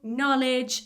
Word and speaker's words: knowledge: The same with know, knowledge, I don't say know, knowledge. The K is silent.